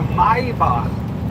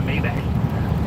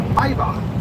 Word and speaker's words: Maybach: It's a Maybar. Maybach. It's not a Maybach. It's a Maybar.